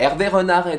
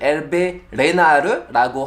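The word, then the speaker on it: Hervé Renard: 아무래도 최근에 많은 분들이 에르베 르나르에 대해서 검색도 많이 하고 많은 정보들을 이제 찾고 있는데 에르베 르나르는 일단 원어민 발음으로 에르베 르나르, 한국에서는 에르베 르나르 혹은 에르베 레나르라고 하더라고요. 원어민 발음으로는 에르베 르나르.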